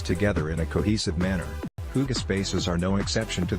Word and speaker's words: hygge: Pronounced Hygge, the Danish word means comfort, and who couldn't use more of that?